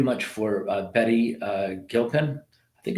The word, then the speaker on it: Gilpin: for uh Betty uh Gilpin I think it's said hard G I don't think it's a s bof I think it's like I think it's Betty Gilpin if I'm wrong Betty